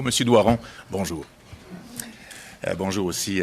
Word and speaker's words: Doiron: J'ai un ami qui s'appelle Doiron et lui aussi, toute sa vie, a fait déformer son nom en Doyon et Dorion. Alors, je voulais le prononcer comme il faut.